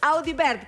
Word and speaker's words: Audivert: Pompeyo, quiero decirlo bien porque me muero si te lo pronuncio mal. Audibert, ¿cómo estás, Pompeyo? Sí, hola, Pompeyo. Hola. Sí, Bienvenido. lo pronunciaste bien.